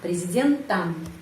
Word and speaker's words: президентом: Ya, kenapa di sini президентом ucapannya am? Karena президентом pengucapannya ada yang penekanan. Ya, penekanan berada pada huruf Y. Karena itu O ini dibaca A, президентом.